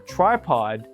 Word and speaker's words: tripod: Learn that the word for tripod is pronounced try plus pod and not tree plus pod.